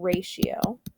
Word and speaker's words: ratio: writing this word out ratio and then we're going to write how it's spelled i mean how it's said it's rey she oh i want you to